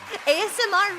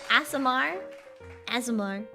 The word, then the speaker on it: Aasimar: ASMR Ranger? Not ASMR Ranger. Aasimar.